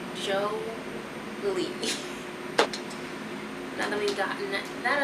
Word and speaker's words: JOELI: Pronounced JOELI. JOELI. You're very welcome. Most people have gotten my name wrong, so my name is pronounced JOELI.